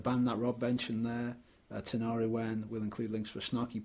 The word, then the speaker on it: Tinariwen: Yeah, Tinariwen. Let's spell it.